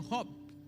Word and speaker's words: Job: É que se pronuncia em castelhano Job.